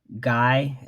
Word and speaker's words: GAI: Guy is spelled GAI, all uppercase, and the Higher Brothers,